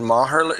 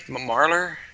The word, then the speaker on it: Marler: We have uh David Mahar. Am I pronouncing that right? Marlor.